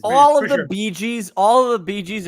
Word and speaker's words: Bee Gees: Barry It's not Bee Gees though. It's It's fucking BEEGEE. G-E-E.